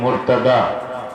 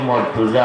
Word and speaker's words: মুরতাদা: রাদিয়াল্লাহু তাআলা নূর উপাধি মুরতাদা। আমরা হই মর্তুজা, আলী মর্তুজা কইনি না বাতেন মর্তুজা, উচ্চারণটা ভুল, শব্দটা হইল মুরতাদা।